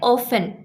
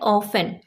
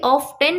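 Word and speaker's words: often: तो इसका उच्चारण किया जाता है ऑफेन। ओके? ऑफेन को आप कभी भी ऑफ 10 मत बोल दीजिएगा। टी इसमें साइलेंट होता है।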